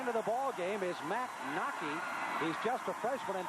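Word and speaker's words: Wnake: Nockey, by the way, name is spelled W-N-A-K-E, but pronounced Nockey.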